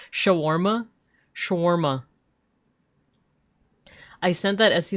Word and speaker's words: shawarma: Sorry you saying schwarma English as there's a sound there's an a in there shawarma schwarma I sent that